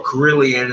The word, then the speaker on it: carillon: musical instruments i says the carillon or corillion is the europeans pronounce it's the guitar and